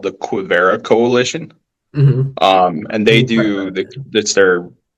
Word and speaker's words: Quivira: Quivria. Quivira. And what is the operation? Coalition. Okay, yeah. I definitely didn't spell that right, but oh no, you're close.